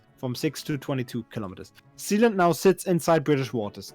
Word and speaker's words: Sealand: Talking about the legality of Sealand. Oh, the legality of Sealand. Not Zealand. Sealand. Sealand. Sealand. I bet it's pronounced Sealand, not Sealand.